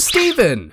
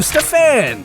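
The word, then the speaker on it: Stephan: Next we go to Steven. Stefan? Wait, hold on. Oh, Stefan! That's it.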